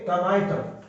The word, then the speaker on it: tomato: अब है ये टमाटो, टमाटो, औ टमाटो, तो इसमें टे मा,